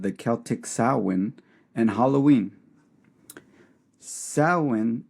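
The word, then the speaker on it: Samhain: Sin. It's spelled Sam Hayne, but you do not say it that way.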